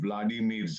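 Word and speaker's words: Володимир: Ma'am, ये जंग है 2 व्लादिमीर्स का। एक है व्लादिमीर पुतिन, दूसरा है व्लादिमीर ज़ेलेंस्की। उसकी यूक्रेनियन प्रोनाउंसिएशन वोलोदिमीर है।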